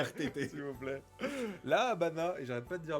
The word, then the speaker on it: Habana: la Habana. Ouais, tu vois, le V se prononce B.